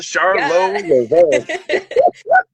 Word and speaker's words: Charlot LaVeau: Your name is pronounced like that, right? Yes, it It is. rhymes, yo. Yeah. Charlotte LaVeau.